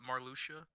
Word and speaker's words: Marluxia: pronounced Marluxia.